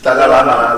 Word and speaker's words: Dalai Lama: Daily Lama. He writes in the Daily Mail. The Daily Lama. Lama, yeah. It's very good. How do you say that in English? Dalai Lama.